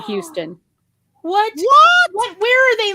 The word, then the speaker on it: Houston: hazes new meteorologists they they also said houston for houston what what where are